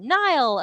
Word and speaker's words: Nile: research, architecture, design, testing, pronounced like the river. Nile. Okay, thank you so much, Nile. I'm so sorry I gave you an American pronunciation there. I gave you the Neil Diamond.